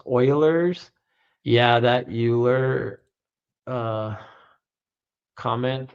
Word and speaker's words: Euler: It's pronounced Oilers.